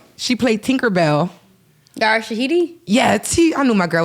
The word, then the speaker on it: Yara Shahidi: I keep saying her name wrong, so y'all help me out. Yara Sadi. She played Tinkerbell. Yara Shahidi?